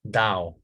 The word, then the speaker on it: Tao: Buddhism in English ta is pronounced da that's what I told you right T is a natural